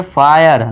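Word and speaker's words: fire: आई के बाद आर इ आ गया तो इसे क्या पढ़ेंगे? फायर। देखिए एफ के लिए फ कर दिया। आई है आ का बड़े ई की मात्रा लगा दिया हमने। आय इसके बाद आई आर इ आ गया। तो य का लगा दिया हमने। सीखा ना अभी य का साउंड भी आएगा। और आर के लिए र तो ये हो गया फायर।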